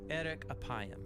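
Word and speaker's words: ארך אפים: in Hebrew the phrase slow to anger is pronounced Eric aayam or literally long of nose but what does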